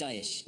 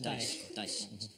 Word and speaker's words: Daesh: It's Daesh. Daesh. So Daesh. It's kind of like what Sean Connery plays backgammon.